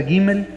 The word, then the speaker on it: Gimel: se escribe, esta es la letra Gimel, y es, ahora sí que la letra G, suena como la letra G en nuestro idioma, pero también vimos que de ahí se deriva la C de casa.